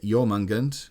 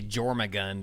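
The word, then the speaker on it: Jörmungandr: of ip um yeah your mungund was the i think i pronounced that right maybe not totally right it was the more accurate than me when because i would say jorma gunned or whatever and pronounced the j john mungund is was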